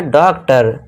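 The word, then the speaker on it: doctor: जब वर्ड के लास्ट में ओ एन या फिर ओ आर आए तो ओ को अ से पढ़ना है। अनार वाले आ का साउंड देना है। ओ आर आ गया तो इसे क्या पढ़ेंगे? टेलर। इस तरह ओ आर आ गया लास्ट में। इसे क्या पढ़ेंगे? डॉक्टर।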